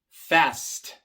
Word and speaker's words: fast: Fast, fast. Viene antes de la T. La T es una consonante sorda. Se pronuncia sin usar las cuerdas vocales y por eso también se pronuncia la S de forma sorda. S, fast. Risk, risk.